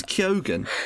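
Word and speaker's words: Keoghan: don't know how it's I think it's kogan because everyone pronoun some people say like Cohen it's like well he not Cohen he's not Jewish he's Irish but I I swear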